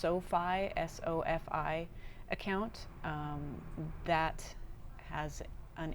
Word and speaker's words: SoFi: We opened I believe it's pronounced SOFI, S-O-F-I account that has an international debit card that has no fees.